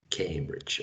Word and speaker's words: Cambridge: came okay all right cambridge right it is pronounced the same in us and uk cambridge excellent er excellent